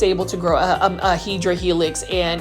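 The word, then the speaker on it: Hedera: and then obviously this hedra Helix this one is for $5.98 and you already know this hadera Helix which is the correct way to say it or English ivy it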